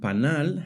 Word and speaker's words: panal: The word panal has the stress on the last syllable.